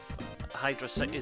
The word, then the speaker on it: Hydro City: Some people call it Hydrocity, I don't. Bit of an ongoing debate in the Sonic fan community, that one, as to how it's actually supposed to be pronounced. But as far as I'm aware, Hydrocity isn't a word, so I'm going to go with Hydro City. But I could be wrong.